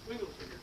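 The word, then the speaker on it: Swingle Singers: is pronounced hard, and the G in Singer is pronounced soft, right? I mean, I don't speak this dialect very well, and I have a tin ear, which is why I did philosophy rather than phonology. But I'm told it goes Swingelsingers, okay, is that about right?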